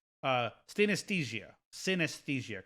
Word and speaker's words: synesthesia: if i'm pushing this wrong uh stay anesthesia synesthesia correct but i pronounce it anastasia synaesthesia there we go okay and so we we